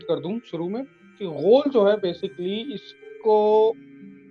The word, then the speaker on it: غول: ایک جن ہے, ہول, کیا اس کا تلفظ ہے صحیح؟ غول، اس کو غول کہتے ہیں، غول. غول، اچھا مطلب یہ یہ عربک ایکسنٹ نیم. جی یہ غین باؤ لام، غین باؤ لام.